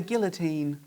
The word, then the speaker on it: guillotine: B, he was executed by the guillotine. Is that how you spell that? There you go. That's not how you say it though. Guillotine.